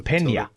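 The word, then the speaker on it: Peña: I think it turns it into an NY, as in El Nino. Oh, okay. Which is spelled N-I-N-O. Okay, so then his name is Michael Pena.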